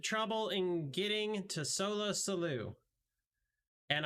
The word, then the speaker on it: Sollew: in getting to solo salute and i'm pretty sure it's salu because i might have cheated and read ahead and figured out what word rhymed with salute so that i could pronounce it right so there's that all